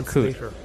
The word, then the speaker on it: coup: It's pronounced coup.